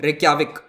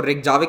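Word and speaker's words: Reykjavík: और इसका कैपिटल है रेक्याविक। ठीक है, इसको रेक्जाविक नहीं बोलते हैं, मैंने भी शायद किसी एक आध लेक्चर में रेक्जाविक बोल दिया था। इसको कहते हैं रेक्याविक, ये प्रोनाउंसिएशन है इसका।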